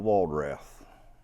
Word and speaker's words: Walradth: Bob, can you give us your name and spell it out for us, please? Robert W. Walradth.